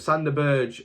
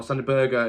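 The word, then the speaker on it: Sander Berge: third prediction is that sand the Burge or Santa Berger is I believe you're meant to pronounce it will remain at Sheffield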